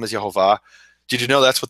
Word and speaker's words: Yehovah: Conspiracy of Silence, saying that the name is Yehovah.